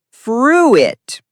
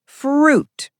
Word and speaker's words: fruit: Wrong is fruit. Correct is fruit. Example, Jack, I eat fruit every morning. Just 1 syllable.